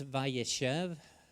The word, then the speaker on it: Vayeshev: And it's vaYeshev. Actually, the emphasis is on the middle syllable, and it means and he dwelt, and it's referring to Yaakov, and that's it in Hebrew there.